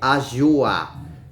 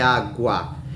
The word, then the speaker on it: água: Por exemplo, em água, ela não é pronunciada como um J, senão seria ajua. Não é verdade? Então é água.